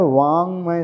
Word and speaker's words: वाङ्मय: वाङ्मय शब्द। अभी ग नहीं है, यहाँ पर क वर्ग का अंतिम अक्षर है। क वर्ग का अक्षर है, हाँ।